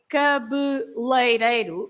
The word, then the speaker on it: cabeleireiro: But if you think of the English word day, right? For example, a day. It's the same sound. It's exactly the same sound as the AY. So A. So you say cabeleireiro. If you imagine, instead of an EI, if you imagine an A and a Y, it's cabeleireiro.